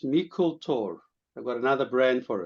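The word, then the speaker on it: Meikle Tòr: It's going to be called Mikkel Tor, pronounced Mikkel Tor.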